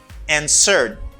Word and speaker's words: answered: The same answer when you add ed, you pronounce this as d sound. You say answered, not answered. No, do not say answered. It's answered.